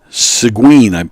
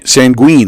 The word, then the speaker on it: sanguine: gu i n e sigen s sangen I believe it's how it's pronounced sanen what is the definition